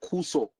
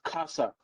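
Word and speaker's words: cursor: Now some of you would call it kuso. You see another misprononunciation. The right word is kasa.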